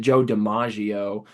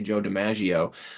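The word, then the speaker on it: Joe DiMaggio: back in the day I used to always pronounce it Joe de iio but uh I watched a documentary on him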